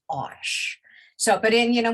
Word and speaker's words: Arches: watercolor paper is arches now we say arches with two syllables here in america but the arch paper is made in france the european um vendors and artists all refer to it as osh so but in you